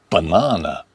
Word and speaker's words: banana: 4 words with a weak A. We have away, away. Banana, banana. Next one, woman, woman, man.